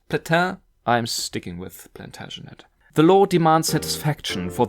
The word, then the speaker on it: Plantagenet: Do I pronounce it right? Plantagenet? Platin? I'm sticking with Plantagenet.